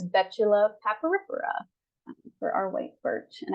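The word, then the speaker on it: Betula papyrifera: white birch um and the way this is pronounced is Betula paparipera for our White Birch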